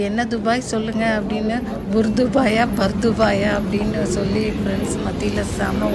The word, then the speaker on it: Bur Dubai: அடுத்த நாள் பார்த்தீங்கன்னா நாங்கள் பர்துபாய் போகலான்ட்டு ட்ரெயினுக்காக டிக்கெட்டு இந்த மாதிரி தான் இந்த கார்டில் சார்ஜ் பண்ணிவிட்டு நாங்கள் போனோம். ஃப்ரான்ஸ்லேருந்து துபாய் போகிறவங்க எல்லாருமே பர்துபாயை வந்து புர்துபாயின்னு தான் ப்ரொனவுன்ஸ் பண்ணுவாங்க.